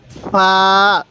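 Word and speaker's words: ف: এই হরফটির নাম হলো ফা ফা ফা মুখ দিয়ে হালকা বাতাস বের হবে এরপরে এই হরফটির নাম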